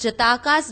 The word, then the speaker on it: Jataka: The next source throwing light on Buddhism is the Jataka tales, or as some pronounce, the Jatak tales.